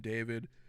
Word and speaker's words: d4vd: slash pop singer named David. His name is spelled out as d4vd. He's got one of those names where he takes a number and basically uses that to represent a letter within his name, kind of similar to